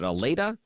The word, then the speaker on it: Allata: Thank you so much for coming on to WORD, and I want to make sure I'm pronouncing that right. Is it Aleda?